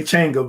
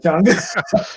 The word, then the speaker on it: Changa: Most people say Changa, but you got it right, Changa.